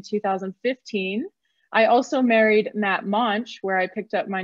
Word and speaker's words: Moench: My name's Moench. My last name rhymes with launch.